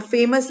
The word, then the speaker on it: famous: क्योंकि जो ओ है उसका साउंड नहीं है. ओ जो है वो साइलेंट है. फेमस FAMUS साउंड सिर्फ अस का आ रहा है, यूएस का आ रहा है. ओ का साउंड नहीं है. ओ का साउंड साइलेंट है.